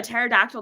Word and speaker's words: pterodactyl: can't you hear a pterodactyl go to the bathroom is because the p is silent you know so that